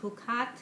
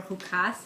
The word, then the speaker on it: Chukat: This is for the upcoming Parasha, Parashat Hukat, or Hukas, depending on how you pronounce it.